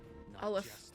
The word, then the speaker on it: Aleph: If Fernodian Aleph 1 breaks it is Aleph, okay. All of Solaris will be at risk. Aleph, reverse 1999, you'll always be famous.